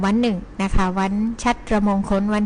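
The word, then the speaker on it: ฉัตรมงคล: 4 พฤษภาคม นะ คะ ซึ่ง ก็ อ่าน ว่า วัน ชัตมงคล นะ คะ มี ความ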